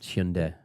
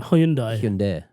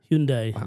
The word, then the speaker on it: Hyundai: Respect How do you say it? Korean Hyundai. Hyundai.